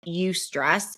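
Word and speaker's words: eustress: for everybody I mean I do know we have research on you stress e stress like that's how it's spelled and UST stress is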